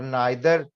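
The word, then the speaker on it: neither: और नाइदर, ज्यादातर लोग इसको नीदर कहते हैं, टीवी में भी आप नीदर सुनेंगे, वो भी ठीक है, मैं ये नहीं कह रहा कि वो गलत है, लेकिन मुझे नाइदर कहना पसंद है।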